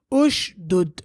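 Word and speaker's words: اشدد: Ushdud. Why do we say ush? Why do we say u? Because the third letter has dhamma.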